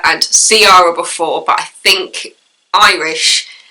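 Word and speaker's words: Ciara: pronounced as Kiara and Sara before but I think Irish mean pronunciation Kira if anybody can correct me on that please let me know but I'm pretty sure in Irish it's pronounced Kira so you have the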